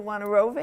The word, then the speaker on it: Wojnarowicz: And David, pronounce it for me. David Wojnarowicz?